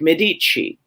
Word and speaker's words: Medici: Well, if you have 2 C's and no H, that's pronounced like we would with an H. So like Medici.